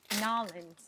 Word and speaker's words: New Orleans: The Burley Earl says Nolans. Nolans. That's how you pronounce it in a New Orleans accent. Nolans. Hey, you're right. People are like, New Orleans. New Orleans, Nolans.